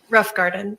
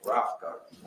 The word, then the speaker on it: Rothengarten: All right, and was Miss Melissa Rothengarten, is that how it's pronounced? Pronounce it for me. Rough Garden. Rothengarten, okay, thank you.